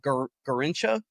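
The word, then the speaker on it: Garrincha: Yeah, Garincha, is that how you pronounce it?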